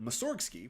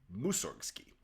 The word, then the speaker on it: Mussorgsky: interesting thing is that Mussorgsky, which is the standard practice of pronouncing the name in English-speaking countries, is not actually correct. In Russian, the emphasis should go on the first syllable, Mussorgsky.